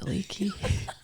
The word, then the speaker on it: Aliki: And I was asking her how to pronounce her last name, but she's like, it's just Aliki.